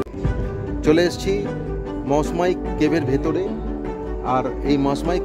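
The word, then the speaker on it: Mawsmai: এটাকে প্রথমে আমি বলেছিলাম কিন্তু মৌসুমী কেভ একচুয়ালি উচ্চারণটা মসমাই কেভ তো আমি ভুল করেছিলাম চলুন এর আগেও এসেছিলাম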